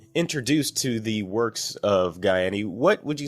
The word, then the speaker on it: Gaiani: See, I've said it correctly. Gaiani, not Gianni.